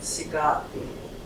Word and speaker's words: sikapi: It was just that inflection. No, actually, it would be sukapi, sikapi. Sika. Sikapi means dirty. Sukapi means good.